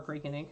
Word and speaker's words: Cricut: in my backs so Cricut ink which is cracking ink or freaking depending on how you say it is much darker than